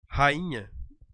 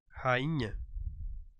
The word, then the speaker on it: rainha: por exemplo a palavra rainha Olha lá a palavra rainha se você observar eu tenho duas letras aqui NH que não são pronunciadas eu tenho apenas uma nasalização nesse caso aí e onde